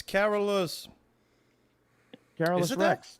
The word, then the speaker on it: Carolus Rex: COBRA cast it's not it's not how you say it's carolos car Rex stop trying to speak English yeah that's Swedish humiliation